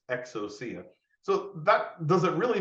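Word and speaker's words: ἐξουσία: have heard someone say hey the Greek word exuzia means power but that's not actually true if you click the speaker you'll hear uh the person pronounce it correctly and it's exocia so that does it really matter in your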